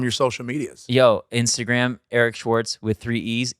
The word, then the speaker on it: Eric Schwartz: TZ tell them your social medias yo Instagram Eric Schwarz with three e e e e r i c s c h w a r TZ is pronounced Eric Schwarz nice yeah you're seriously one of my favorite